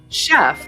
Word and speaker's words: chef: What's crazy is the word chef, although begins with a cha, is pronounced with a shuh, just like the famous